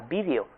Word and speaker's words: video: Latín, la forma era también esdrújula, se pronunciaba video. La razón era porque la E era breve, estaba en una sílaba abierta y el acento recaía en la antepenúltima sílaba, por tanto, en la I.